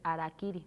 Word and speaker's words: harakiri: estado sin guion y se pronuncia sin pronunciar la H es decir harakiri no se produce con con h aspirada pues arak arak como